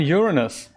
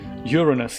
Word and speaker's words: Uranus: Uranus, yeah, that's what I'm thinking. I'm thinking with the pronunciation on the first syllable, right, Rod?